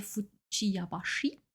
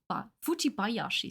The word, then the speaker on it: Fujibayashi: Und es wird auch eine weibliche Version geben, die nennt sich Naoe Fujiyabashi. Wenn ich es richtig ausgesprochen habe, Fujibayashi. So, Fujibayashi. Das ist ein schwieriger Name.